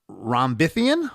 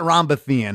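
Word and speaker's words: Rhombithian: I I I'm going to pronounce this, I think, correctly. Um, Rambithian. Yep. It's a madeup word, not Rambthean, in 2017.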